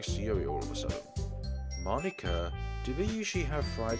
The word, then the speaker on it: Monika: Monika. And that's not how you say my name at all. Monika.